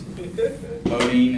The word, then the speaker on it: Beaudine: Beaudine is spelled B-E-A-U-D-I-N-E.